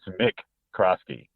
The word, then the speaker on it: McCroskey: Hey, also, as you were talking about your dad, I also say McCroskey, even though it is Mick Crosky.